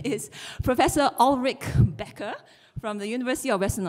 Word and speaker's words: Ullrich Ecker: And I will try to pronounce his name in the proper German way, although I might sound fake. But his name is Professor Ullrich Becker from the University of